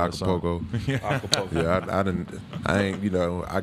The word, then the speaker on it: Acapulco: I think I said it wrong too. It's always like hard for me when I sing along. Yeah, Acapulco.